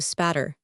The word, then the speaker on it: Aspatria: Idle, until it appeared that the honest English pronunciation of that Cumberland country shortened Aspatria into spatter.